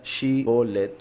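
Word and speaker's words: שיבולת: La palabra que los pusieron a pronunciar, como ya dije, Shibolet, se pronuncia Shibolet y quiere decir dos cosas.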